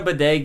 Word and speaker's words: bidet: it is using a bidet gay uh no it rhymes so you know it's real day is gay they're nice how do